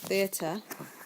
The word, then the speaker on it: Theta: course that's it all right now Theta is pronounced Theta and it's the symbol for an angle for